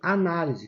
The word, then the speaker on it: análise: sílaba tônica o li quando eu coloco o acento eu transfiro a sílaba forte daqui para cá tá por isso que eu tenho análise analise que é o verbo e análise que é o substantivo A análise Olha a